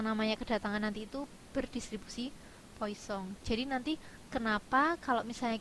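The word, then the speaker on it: Poisson: diasumsikan mengikuti distribusi Tertentu bisa distribusi Poison atau poisong di ya ini sebenarnya bacanya poisong Gamma Erlang dan lain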